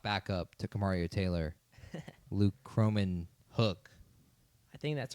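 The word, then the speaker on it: Kromenhoek: Is I it mean, not I had no Croman- idea how to pronounce his Is name. it not Cromenwork? No, it's Cromenhook, I Okay, believe.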